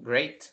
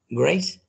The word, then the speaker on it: great: Great. Grace. No es con C al final, sino que con la T.